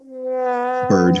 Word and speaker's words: Baird: Richard Byrd, how do you pronounce Baird? Is it Byrd or Bard? Byrd.